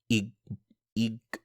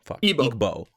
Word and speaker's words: Igbo: Igbo. Igbo. Oh. Igbo. You don't pronounce the G.